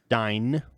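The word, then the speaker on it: Van Dyne: be playing hope van dime which is dine D did I say dime you said dime oh my gosh hope vancar hope van nickel no hope van hey peny Hope van dine there go is the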